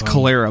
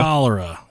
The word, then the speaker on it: cholera: clara tore me up it looks like it's clara but i don't think that's how you pronounce it clara pronunciation let's hear calera there you go cholera see cholera cholera a